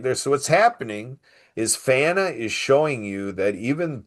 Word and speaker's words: PFANA: We pronounce that FANA, P-F-A-N-A, FANA, People for a New America.